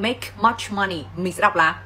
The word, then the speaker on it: make: Nếu như mà không có âm ca thì các bạn sẽ đọc là may, may, may, sai hoàn toàn nhá. Đó, còn cái từ làm kia chúng ta phải đọc là mẹ, mẹ, mẹ, vẫn có âm ca nhưng chỉ là không bật hơi xuống thôi.